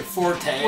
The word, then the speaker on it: forte: I'm like well apparently Forte is supposed to be pronounced Fort don't yeah like don't